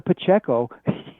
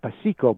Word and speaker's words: Pacheco: way there is a Pacheco yes under the Latin name what you know it's spelled what pasiko but it's Pacheco you know you translated